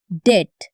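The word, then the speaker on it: debt: খেয়াল করো, এই ওয়ার্ডে বিটা সাইলেন্ট, উচ্চারণ হবে ডেট।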